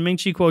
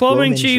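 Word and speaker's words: Kuo Ming-chi: and I look, and Minchi Quo tweeted. Here, this is the image. This is real. This is Guo Minchi. You also said his name wrong, dude. It's Guo Minchi.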